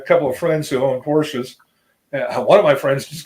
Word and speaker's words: Porsche: of friends who owned Porsches. One of my friends just got last year got a 911 Turbo. Right, I made up a custom license plate frame for him. Porsche, 2 syllables.